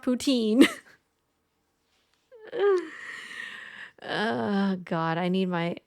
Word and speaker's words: poutine: it right it is poutine it's just that when the the the apparently the way you're supposed to say it is is Putin a poten is a putan Putin oh God it's one